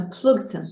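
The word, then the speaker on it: פלוגתא: A plugta, that's how you say it in Aramaic.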